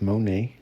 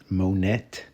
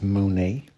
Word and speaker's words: Monet: So without further ado, let's go ahead and check out this book Monae. That is pronounced Monae. Uh not Monet, Monet or anything like that. It's Monae.